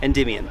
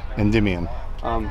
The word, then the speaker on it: Endymion: But it's how do you pronounce it? Endymion. Endymion.